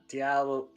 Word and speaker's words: Diallo: I can't pronounce her name. Whose name? Who's? Diallo. You got it.